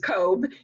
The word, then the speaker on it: Cobb: My mother was Mrs. Cobb, and it rhymes with robe.